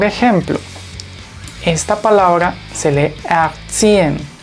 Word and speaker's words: erziehen: Por ejemplo, esta palabra se lee erziehen, erziehen, o esta arbeiter, arbeiter, y esta ua, ua. Es muy sutil el sonido de la R porque le precede una vocal, así que mucha atención.